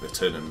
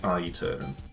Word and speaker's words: Aeternum: I'm guessing Eternum is the pronunciation. Actually, as someone who knows a little medieval Latin, I think it's probably Aeternum, but Aeternum sounds more